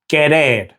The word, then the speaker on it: querer: Okay, so the next verb on our list is querer, which means to want. Now the QU in Spanish is always pronounced like a K sound, not a Q like in English.